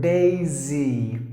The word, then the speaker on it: Daisy: Or if you put your fingers on the Adam's apple, it should not vibrate when you say the S sound. But when you say the Z sound, it should vibrate. So when you pronounce this word, Daisy, it should vibrate. If it doesn't vibrate, you're not saying it perfectly.